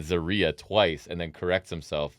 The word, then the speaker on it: Zaria: he called her Z what's the pronunciation I'm not Zia no Zaria is correct no Zaria right you said Zaria a lot Z that was no zarya oh zarya so he was saying